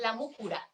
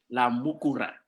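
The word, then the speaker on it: La Múcura: Hi, you pronounce it La Mucura. La Mucura. La Mucura.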